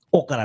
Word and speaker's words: Ocala: Las palabras en inglés no tienen acento en la primera sílaba. Ocala, no, Ocala.